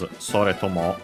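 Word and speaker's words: それとも: Soretomo, because yeah, sore unaccented and to, the first particle, the accent is on the first particle of the compound.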